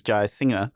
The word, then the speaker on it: Jayasinha: It's just there's an invisible G that my ancestors have dropped, but it needs to be pronounced because it's Jayasinha, like someone singing songs.